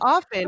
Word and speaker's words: often: The word is often. I think you do. T is silent. It's often.